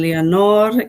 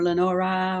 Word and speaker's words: Leonor: is leonard and i have to repeat this it's leon or a lot of people mispronounce my name they always tend to add an e to the and or lenora or really oh yeah i